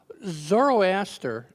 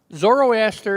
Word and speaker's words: Zoroaster: was found zoroaster uh which by by the way is a mispronunciation of a mispronunciation zoroaster is the Latin mispronunciation of the Greek th sister which is a mispronunciation of the Persians zard you know so um